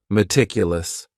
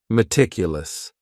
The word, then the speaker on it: meticulous: word is meticulous and this word has four syllables and the stress is on that second syllable meticulous meticulous that first syllable also has that schah that a sound that reduced vowel sound meticulous this is another word